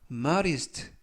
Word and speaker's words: modest: 이때 D 발음을 부드럽게 드가 아니라 르, 그래서 modest 라고 발음하시면 좋겠고요.